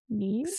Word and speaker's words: knees: Knees? Similar to bees, but knees with a... With the KN. Because the K is silent.